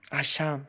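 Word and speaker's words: אשם: 여기서 허물은 히브리어로 아샴이라고 읽어요. 아샴.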